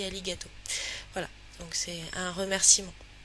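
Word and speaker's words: ありがとう: merci en japonais donc ça s'écrit arigato mais ça se dit ali gâteau voilà donc c'est un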